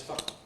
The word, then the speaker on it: fire: How do we pronounce the word spelled F-I-R-E? Well, if you listen to me, you probably hear me say it as fa.